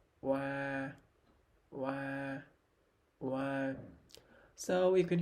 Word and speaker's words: oa: First, the R combination is pronounced wa, wa, wa.